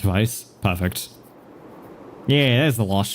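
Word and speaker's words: Weiss: Is it Vice? W E I S S. Vice. Wait, I've always pronounced it as Vice cuz I'm that's how I always thought it's pronounced. I think that's how I've heard it pronounced as Vice.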